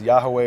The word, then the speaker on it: Yahweh: those are the letters yud V whether you pronounce as Yahweh or yahovah or other variations of that that